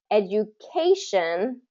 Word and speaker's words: education: is first syllable stress education is third syllable stress because of the the the suffix of shun okay education things that that end in shun we're going to stress the syllable right before that ending education um vacation